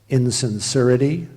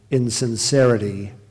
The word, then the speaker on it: insincerity: one appears to express are there any alternate pronunciations yes insenser so there's insurity which is the alternate and insincerity which is the primary pronunciation insin sincerity i